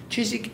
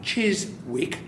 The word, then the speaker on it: Chiswick: just a wonderful place not Cheers WIC check that what will you is silent like a woman get your wuble-u out of the woman language Chizik thanks guys you